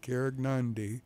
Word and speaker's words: Karegnondi: It's on the Carignondi website, KAREGNONDI, Carignondi. And that's the correct way.